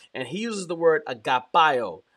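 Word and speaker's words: αγαπώ: he uses the word agapo agapo it's the Greek word Agape we say Agape in English agapo is the actual correct I believe anunciation or pronunciation of the word um uh love in Greek agapo it speaks to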